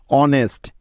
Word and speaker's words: honest: অনেস্ট, HONEST, অনেস্ট।